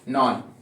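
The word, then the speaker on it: known: जैसे कि स्पेलिंग है नॉन, के एन ओ डब्ल्यू एन, के के बाद में आपको क्या मिल रहा है? एन मिल रहा है, तो साइलेंट किसको करोगे? के को। ऐसे ही कुछ और स्पेलिंग्स है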